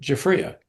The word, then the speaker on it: Giuffria: If Coca-Cola can teach the world to sing, Universal MCA can teach how to say Jaffria.